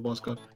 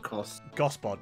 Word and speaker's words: Gospod: the stream except for Boscod. Yeah, you got a real hatred for Boscod for some reason. Yeah, no, he deserves it. What's your problem? Jack, we're having fun. It's pronounced Gospod, by the way.